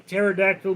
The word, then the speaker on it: pterodactyl: Why did the pterodactyl go to the bathroom? The P is silent.